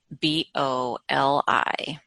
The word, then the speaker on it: Trimboli: Well, it's spelled Trimboli. Trimboli.